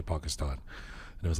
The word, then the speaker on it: Pakistan: Did you realize that you rhymed Pakistan with Iran?